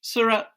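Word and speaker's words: Sarraute: Surratt, is that how do you pronounce her? Surratt.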